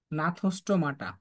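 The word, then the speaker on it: Gnathostomata: হচ্ছে নাথোস্টোমাটা একটা হচ্ছে নাথোস্টোমাটা সাইক্লোস্টোমাটা আর হচ্ছে নাথস্টমাটা এটাকে জিডিয়া শুরু করে বুঝছো জিডিয়া শুরু করে বাট উচ্চারণটা হচ্ছে নাথস্টমাটা হয়ে গেল কলমটা নাথোস্টোমাটা তাইলে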